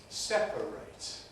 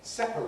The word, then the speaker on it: separate: you may know that the suffix spell ate is strong in verbs but weak in adjectives so the verb is to separate we've got to separate these two things but the adjective is separate with us for some